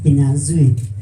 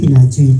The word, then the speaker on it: Kinyanzui: That they are trying, however, it is kinyanzui. You have to tighten where your tongue to be able to pronounce. But if you find it difficulty, I'll appreciate if you call me kinyanzui.